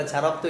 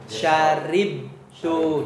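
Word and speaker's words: شَرِبْتُ: Walaupun bacanya bukan syarab tuh ya, tetapi syarib tuh.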